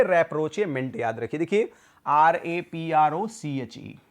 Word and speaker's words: rapprochement: देखिए भी spelling simple सा है, RAPPROCHE, रैप्रोचे याद रखिए तभी याद होगा ये, रैप्रोचेमेंट। कैसे याद रखेंगे? रैप्रोचेमेंट, RAPP देखिए है रैप्रोचेमेंट, रैप्रोचेमेंट याद रखिए, याद हो जाएगा। रैप्रोचमेंट की जगह पे रैप्रोचेमेंट याद रखिए।